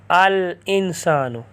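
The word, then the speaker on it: الإنسان: قمریہ میں سے ہے، تو اس لیے یہاں الانسان الف لام کا تلفظ کریں گے۔ بیتن گھر، اس پر آپ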